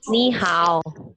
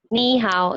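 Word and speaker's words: 你好: Ini bacanya ni hao. Ya, yang ini ni hao.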